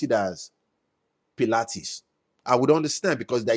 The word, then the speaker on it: Pilates: Rachel, I would understand if they pronounce it as Pilates. I would understand because there is high there. There is L, there is A, there is T, there is ES. But not Paul. Not Pula.